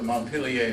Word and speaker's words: Montpelier: Well, Montpelier in France is Montpelier, and in Vermont it's Montpelier.